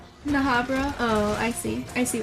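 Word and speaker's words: Bnahabra: Bahabra with a silent B? Bahabra? Wait, are both B's silent? Okay. Nahabra?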